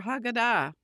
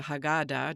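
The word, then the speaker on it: Haggadah: And it is no accident that these words appear in the central portion of the Passover Hagada or the Hagada, depending on which way you want to pronounce it.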